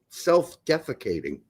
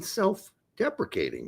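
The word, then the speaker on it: self-deprecating: Hey, don't be so self-defecating. Don't be so selfdefeating. And I said, I think you mean selfdeprecating, right? Oh, is that how it's said? Yes, that's how it's said. Selfdeprecating, not selfating.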